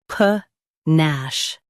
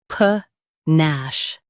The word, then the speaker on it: panache: pa nash Now, read the syllables shown on the screen naturally. pa nash pa nash Stress nash and keep pa soft.